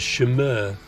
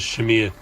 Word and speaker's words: Chimere: dream and when we've met frenchotties they've immediately pronounced it as Shimmer or Shamir and I've heard other pronunciations but we've tended to stick with the unpretentious Shamir anyway um I grew up on boats on